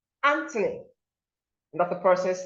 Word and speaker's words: Anthony: Anthony, Anthony, that's the person's name.